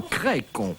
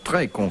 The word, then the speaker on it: Crécon: Non, Crécon, pas Trécon, Crécon.